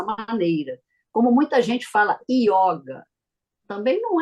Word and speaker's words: yoga: como muita gente fala yoga também não é errado que a gente tá no Brasil porém se você f for pro lado do do yoga o correto seria yoga com som fechado y